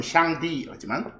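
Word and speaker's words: 上帝: 상제 그들 발음은 샹디.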